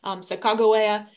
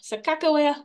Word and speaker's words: Sacagawea: Hidatsa name, so again, Sacajawea is the kind of the Shoshone pronunciation. Sacagawea is more of the kind of an Englishized version of Sacagawea, which is the Mandan and Hidatsa pronunciation, or what they called her.